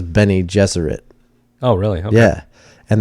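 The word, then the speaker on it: Bene Gesserit: Jesuit yeah I so I listened to an audio track of Frank Herbert pronouncing each one of these names to see how he actually said it okay and he says he says Benny Jesuit oh really oh yeah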